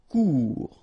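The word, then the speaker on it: court: Final T not pronounced. Cours. Remember, when you combine this O and U together, you get the sound OU.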